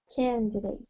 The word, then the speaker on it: candidate: this candidate candidate okay you don't need to say date it's D candidate candidate that's it that's it we don't say date because date is not the stressed syllable so we don't actually say the a what is a candidate